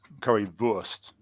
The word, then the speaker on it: currywurst: So like a W in German is pronounced like as a V. So it's currywurst rather than worst.